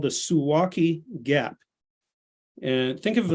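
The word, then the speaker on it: Suwałki: Poland it's called The suwaki Gap and think of it like yeah think of it like walkie-talkie it's spelled the same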